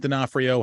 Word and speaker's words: D'Onofrio: both of us together my ex-girlfriend knows Vincent D'Onofrio however it's spelled you actually you nailed it right you